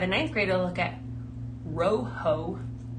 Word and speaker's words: rojo: Like if he was saying rojo, he was saying lojo. I was like, oh, that's weird. It's because he was hearing his teacher say rojo with her tongue being involved. It was just like our L, lojo.